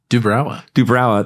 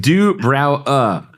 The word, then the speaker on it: duBrowa: duBrowa. They Well pronounced, sir. They gave me the. Did they give you some weird phonetic thing? No, they gave me the phonetic spelling of it. duBrowa.